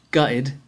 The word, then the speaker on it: gutted: the bus gutted now here gutted sounded a little different i didn't pronounce the ts i said guide this is just the most common pronunciation of this word in british slang you don't have to